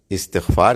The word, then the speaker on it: استغفار: The difference between the two is correct way of pronouncing it and incorrect way of pronouncing it. استغفار صحیح لفظ ہے, استغفر اللہ یہ ہے صحیح.